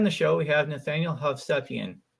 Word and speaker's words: Hovsepian: investing today on the show we have Nathaniel havian how are you doing today Nathaniel I'm doing